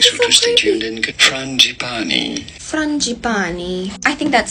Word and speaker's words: frangipani: It is called a white frangipani. I'm so sorry if that is not the correct pronunciation of it.